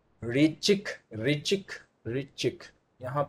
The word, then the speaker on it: ऋचिक: ऋचिक ऋचिक ऋचिक, यहाँ पे शब्दों में उच्चारण में थोड़ा सा, क्योंकि बहुत क्लियर फॉन्ट